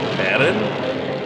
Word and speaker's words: Varan: Varan. Okay, that's how the name is pronounced. Oh, but apparently it can also be Varan?